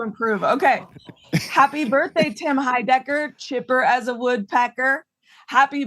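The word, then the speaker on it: Heidecker: it okay I understand y happy birthday Tim High Decker is that how you say it yes happy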